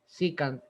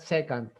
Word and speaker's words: secant: so we mult uh we pronounce uh this one here s e c a and p as short i okay and then k and then a and secant is not second okay so cosine and